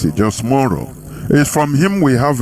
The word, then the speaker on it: James Monroe: This man, I mean the James Monroe, the way you pronounce it, James Monroe, is from him we have a Monrovia.